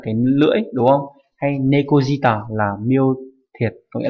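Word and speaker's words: 猫舌: là lưỡi, nhưng mà không đọc là nekoshita mà là đọc nekojita nhé.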